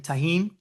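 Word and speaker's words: Tajín: T A J I N Taheen.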